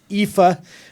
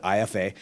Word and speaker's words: IFA: It's EPHA, which I remember last year I got in a lot of trouble because I called it IFA.